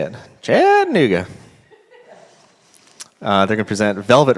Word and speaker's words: Chattanooga: Chattanooga. That's how you say it. Chattanooga.